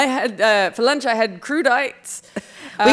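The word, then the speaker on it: crudités: We say crudite, French people. I had no idea. This whole time you thought it was crudite?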